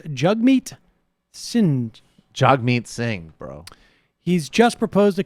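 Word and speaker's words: Jagmeet Singh: pronunciation of the NDP leaders name yesterday it's pronounced jug meat sind jag meat Singh bro he's just proposed a Canadian wealth tax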